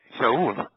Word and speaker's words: Sheol: It has to be Shaul. It cannot be Sheol as they pointed to pronounce it.